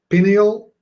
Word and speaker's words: pineal: Okay, so first thing is, what's the pineal gland and why should we care? So there are two pronunciations, pineal and pineal.